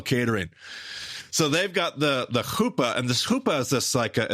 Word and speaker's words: chuppah: Now that's spelled Chuppah. Chuppah, the chuppah. A lot of people look at it and say the chalupa. No, that's from Taco Bell. This is the chuppah.